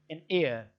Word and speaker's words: heir: This word is pronounced as an air, very much like air.